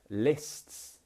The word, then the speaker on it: lists: Now, this sound is another annoying sound. Even I find this hard to pronounce sometimes. Lists. It's because we're making so many movements with our tongue and our mouth that it's quite hard to make this sound, especially if you're learning English.